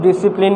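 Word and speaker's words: discipline: जाएगा और इसमें क्या ये ऐसा वर्ड है डिसिप्लिन जिसमें से लेटर क्या है साइलेंट है अब अब तक सब जानते होंगे स्पेलिंग भी जानते होंगे लेकिन यह नहीं पता होगा की ये लेटर क्या है इस वर्ड में साइलेंट है इसको हम लोग प्रोनाउंस नहीं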